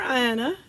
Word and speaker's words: Anna: Grace or favor and Anna or Ayanna depending on how you want to pronounce it certainly was favored by